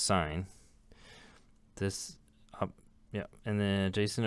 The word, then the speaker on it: sin: is the sign ratio of which short is spelled sin but this is pronounced sign this yeah and then